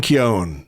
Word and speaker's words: Keown: pleasure to Welcome to the ARs cast Martin Keon very good Andrew pronunciation yes um you did well there Keon I've been called keone for years but um if you read the